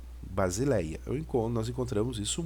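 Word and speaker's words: βασιλεία: o alfa som já então isso aqui a pronúncia vai ficar Basileia Basileia eu encontro nós encontramos isso muito no Novo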